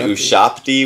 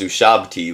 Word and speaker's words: ushabti: love the character like i was pronouncing the first episode it was introduced and then who shopped e with a p and then i found out in the fifth episode that it was ushabti with a b and uh